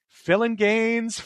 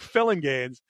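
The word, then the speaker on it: Phillinganes: famous session keyboardist and it's pronounced like it looks Greg philingames I've always seen that name and wondered is it filling games it's great filling gains these are all guys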